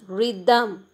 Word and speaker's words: rhythm: the tenth one is rhythm here the sound of h the sound of h which comes after r is silent then eleventh one is